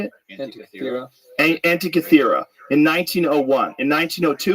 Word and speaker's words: Antikythera: Antikythera.